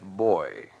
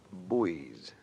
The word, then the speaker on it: buoy: No Navy man would ever say life boy. Pronunciation's optional, but you call them buoys in the Navy.